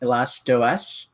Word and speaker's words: Elastos: then our main product um it's it's called elasto that's how it's pronounced that's an actual application you can download